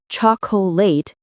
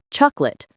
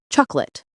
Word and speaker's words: chocolate: We don't say chocolate with 3 syllables, we say chocolate, or even chocolate, 2 syllables.